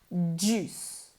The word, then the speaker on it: juice: Ignore the I. La I es muda. Juice.